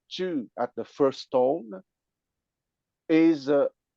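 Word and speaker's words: 知: And the intellect, the character for intellect pronounced Chu at the first tone is an arrow with a mouth, okay, meaning you are skillful physically and you are skillful verbally, intellectually.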